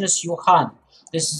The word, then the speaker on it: Johann: make the pronunciation is yohan this is this j makes the year sound okay johan wiss and